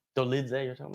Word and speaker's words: Dolidze: Like, but that's the thing is like, I think, credit to Dolice, yeah. That's how you say his name. Like, Dolidze, you're talking about? Dolice, yeah.